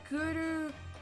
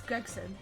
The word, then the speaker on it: Gregson: The third is T Gurugusun. Man, can you imagine Japanese person trying to pronounce that? Yeah. Goody. It's Gregson.